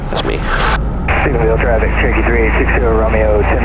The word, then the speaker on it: Stephenville: Man, we in Stevenson, Texas, man. I think I said it right. You said it close. Stephenville.